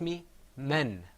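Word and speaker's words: م: You see on the screen, inshallah, coming up is harf al-mim, the meme sound.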